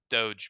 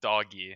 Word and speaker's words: doge: a meme which is the doge meme or doggy however you want to pronounce it stick with speak with doge you sound smarter yeah i'm